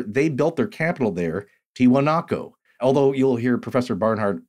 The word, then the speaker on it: Tiwanaku: Edwin Barnhart, from the Wondrium lecture series, The Lost Worlds of South America, lecture number 12, Enigmatic Tiwanaku by Lake Titicaca.